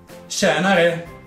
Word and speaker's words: tjenare: La T e la J insieme formano un suono molto simile alla SH di scegliere.